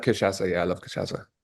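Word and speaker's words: cachaça: don't know you uh know about it is kashasa. Kashasa kashasa. Yeahasa or no? Pardon me. You you you taste one or no? Oh yeah. I I like kashasa.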